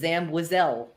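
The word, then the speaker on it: Zam Wesell: So our mutual friend Devore from Allergy to the Force said he always thought it was Zamwizel.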